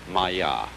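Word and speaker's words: māyā: this kind of thing is the sanskrit term maya i'm going to write that down for you pronounced maya and this word comes from a root in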